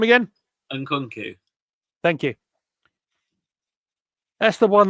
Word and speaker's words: Nkunku: Nkunku.